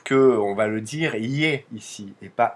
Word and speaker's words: Е: le E sauf que on va le dire y ici et pas e il y a pas